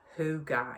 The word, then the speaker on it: hygge: if you've heard of the danish concept of hooga it's spelt differently to what it sounds um but it's about